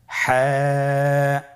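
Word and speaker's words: ح: হা হরফটি কিভাবে উচ্চারিত হবে? হা হরফটি উচ্চারিত হবে কন্ঠনালীর মধ্যখান হতে। গলা চিপে ধরে আপনি উচ্চারণ করুন।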